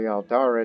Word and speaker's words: Aldara: I thought it was Aldana the entire time, until, I saw the Aldara dynasty that we've created, this cadet branch of it,